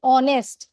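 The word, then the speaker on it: honest: অনেস্ট হলেও অনেস্ট বানানটাতে শুরুতে যদিও বা এইচ আছে কনসোনেন্ট সাউন্ড, বাট আমরা যখন প্রোনাউন্স করছি অনেস্ট তখন ও চলে আসছে, এই জন্য এটার সামনে অ্যান বসবে।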